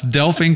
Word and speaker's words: Delphine: Our guest today is Delphine, and you have to look at her name and really pronounce it out. It's Delphine.